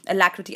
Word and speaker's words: alacrity: Alacrity, I love this word. I just love pronouncing it the way it sounds.